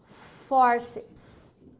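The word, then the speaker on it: fórceps: certo vai sim dois forceps olha lá forceps como eu separa o forceps forceps não é isso forceps então ela é uma paroxítona é uma paroxítona terminada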